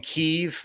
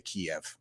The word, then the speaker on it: Kyiv: And everybody's saying Kyiv. I know that's how it's said in the Ukraine, but I'm Anglo, and in English we say Kiev.